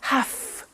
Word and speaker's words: have: pronunciation I have to notice I don't say V I say F have half it becomes have to